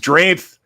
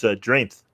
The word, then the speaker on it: Dreamth: Normal and ISU memories of Dreamth. New Marvels are coming in. So Dreamth. Literally, that's how it's spelled. And we're like, shouldn't it be like dreamt? Like past tense dream? No, it's Dreamth.